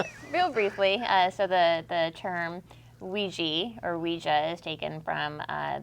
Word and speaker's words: Ouija: The correct pronunciation is Ouija.